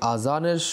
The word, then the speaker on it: আযান: উচ্চারণে ভুল করে থাকি কেউ আজান বলি কেউ আযান বলি তো এই আযানের সঠিক উচ্চারণ হলো আযান এর শাব্দিক অর্থ হচ্ছে